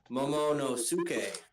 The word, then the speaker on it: Momonosuke: Momonosuke.